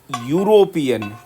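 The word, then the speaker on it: European: का यूज करते हैं, लेकिन इसकी प्रोनाउंसिएशन देखिए, यूरोपियन, ये किसका साउंड आ रहा है, कॉन्सोनेंट का साउंड आ रहा है, ना कि वोवल का।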